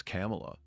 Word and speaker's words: Kamala: Like when she said her own name, she said it is Kamala. And I was like, it means like everybody, including like people that are like her 100% supporters, are saying her name wrong?